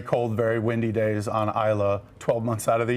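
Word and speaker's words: Islay: A lot of people mispronounce it as is or because it's I l a y. But if you want to sound cool, ISO, that's how they pronounce it in Scotland.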